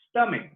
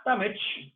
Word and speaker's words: stomach: Or in English, this CH is pronounced like a K, stomach, not stomach, stomach.